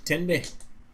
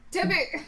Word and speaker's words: Tenby: Oh, no, it's Tenby. That's what I spelled. You said T-E-B. Ah, it's Tenby. Tibby.